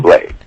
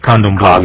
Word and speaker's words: Candomblé: Pronounce that again? Candomblé. Okay, Candomblé, yes.